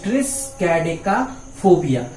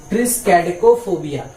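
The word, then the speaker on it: triskaidekaphobia: तो यहाँ पे इसका मतलब, इसका प्रोनाउंसिएशन सुनिएगा, ट्रिस्कैडेका, ट्रिस्कैडेका, TRIS, ट्रिस्कैडेका फोबिया, ट्रिस्कैडेकोफोबिया, ट्रिस्कैडेकोफोबिया। ठीक है, अब प्रोनाउंसिएशन सुनेंगे, ट्रिस्कैडेकोफोबिया।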